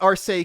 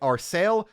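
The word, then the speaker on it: Arseille: And yes, the ship is pronounced Arcee consistently in the dub. I seem to remember at least one Cold Steel game erroneously pronouncing it Arsail, but it is Arcee here, which is obviously more correct based on the language it's derived from and consistent with most of the rest of the series at least.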